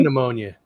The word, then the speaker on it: pneumonia: pea pneumonia. Pea pneumonia. Hey, Lauren. Pneumonia. It's like one of those funny things about the English language, those silent letters. Like pneumonia, pterodactyl.